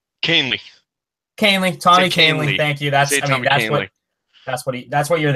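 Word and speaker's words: Kahnle: you here Yankee fan I need you to pronounce this guy's name kingly Kaylee Tommy Kaylee thank you that's it that's what he that's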